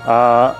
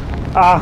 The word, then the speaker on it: Å: To jest cała właściwie mieścina A, którą wymawia się jak O.